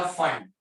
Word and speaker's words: Pfund: और एक होगा बेटा फंड। फंड P जो रहेगा वो साइलेंट रहेगा, PFUND।